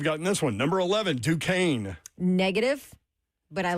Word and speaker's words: Duquesne: Number 11, Duquesne. Negative, but I like that you pronounced it correctly.